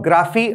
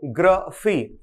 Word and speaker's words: graphy: इसको आप ग्राफी मत पढ़िएगा, हम इसे क्या पढ़ेंगे, ग्राफी। फिर से सुनिएगा, ग्राफी।